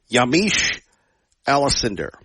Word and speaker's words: Yamiche Alcindor: Yamiche Alcindor. And yes, I pronounced her name correctly.